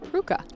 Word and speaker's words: Prucha: And here's that reset to Austin Prucha, who towed that sideline beautifully. We actually got a note on Twitter from Jake. He wanted to let us know that Austin's last name is pronounced Pruka.